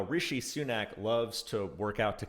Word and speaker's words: Rishi Sunak: the man who makes rishi sunak sweat and i hope did i pronounce that right uh i think you did yes okay i thank you